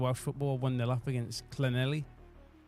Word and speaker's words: Llanelli: Carmarthen Town, if you care about your Welsh football, 1-0 up against Llanelli. Llanelli, I'm led to believe.